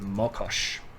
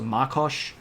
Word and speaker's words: Mokosh: and goddesses discussion with Mokosh. Sometimes you'll see this pronounced with an A at the beginning, so Makosh.